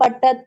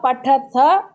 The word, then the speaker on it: पठति: पठा पठव पटा पसी पटत ट नहीं बोलना है बस हा ठ बोलना है पथ पथ पटत पठत पटती नहीं पठति पठ